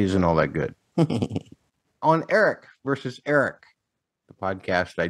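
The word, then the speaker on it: Arryk: on your bit that Eric and Eric are pronounced the same.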